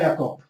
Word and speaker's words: Jakob: Jakob, am I pronouncing your name correctly? Yeah, Jakob. Just in Czech, it's Jakub.